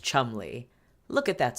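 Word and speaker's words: Cholmondeley: by the seventh Marquis of Chumley yes it's pronounced Chumley look at that spelling Chumley this is not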